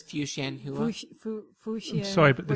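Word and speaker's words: Fuxianhuia: The X is pronounced an SH. Xian. So it's Fuxianhua.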